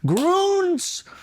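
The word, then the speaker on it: Grüns: Groons. Am I pronouncing it right? Yeah. Groons? Because I saw that little umlaut, so I assumed it was Groons.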